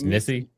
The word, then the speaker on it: Nisi: Like, you know, like your nephew, your niece, like. She called me. That's not how you pronounce it. It's Nissy.